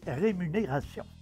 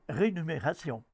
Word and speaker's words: rémunération: la capsule l'inversé rémunéré et rémunérations voilà la bonne façon de prononcer et décrire ces deux mondes on entend souvent des gens prononcé rénumérés et rénumération ce sont des formes fautive des mots qui n'existent pas alors on parle de